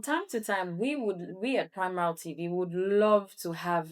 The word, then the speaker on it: Primarald: Primarald. I hope I got it right. Primarald.